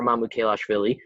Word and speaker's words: Mamukelashvili: a power forward, and he's a senior, Sandro Mamukelashvili.